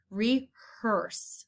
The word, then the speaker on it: rehearse: lines for the play rehearse sounds like er and the last word